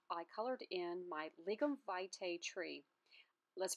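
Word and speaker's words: lignum vitae: to show you how i colored in my ligam vitae tree let's pronounce that again it's pronounced ligament vitae otherwise known as the tree of life now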